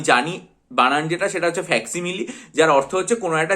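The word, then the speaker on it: facsimile: যে কথাটা রয়েছে সেটা হচ্ছে ফ্যাক্সিমাইল এটার যে উচ্চারণটা সেটা করতে গিয়ে আমি ফ্যাসিমাইল বলে ফেলতাম অনেক সময় কিন্তু এর প্রকৃত উচ্চারণ এবং বানান যেটা সেটা হচ্ছে এফ এস সি আই এমই এ উচ্চারণ হচ্ছে ফ্যাক্সিমেল কিন্তু অদ্ভুতভাবে ওয়েবসাইটে যেটা রয়েছে পিডিএফ এ সেটা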